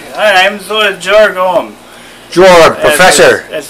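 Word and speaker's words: Georg: I am Jorg. I'm Jorg Ohm. Jorg, professor. That's right. Fun fact. Thank you for joining us. Did you know my name? It is spelled G-E-O-R-G. The E fell off.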